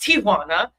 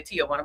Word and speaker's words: Tijuana: It's really pronounced Tijuana. Tijuana if if if you're if you're from the Spanish culture, but Americans say Tijana.